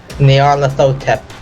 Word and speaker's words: Nyarlathotep: that that a thing whose name I can't pronounce Nyarlathotep thank you what the hell is that name